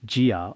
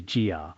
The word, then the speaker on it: 伽: The ga in Suga is sometimes pronounced gia or k. But I believe it is mostly gia.